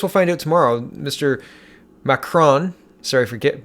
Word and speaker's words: Macron: macron sorry I forget mispronouncing his name it's macron not mark on micron mr.